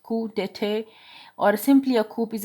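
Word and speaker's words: coup d'état: A coup d'etat, pronounced coup d'etat, or simply a coup, is a sudden overthrow.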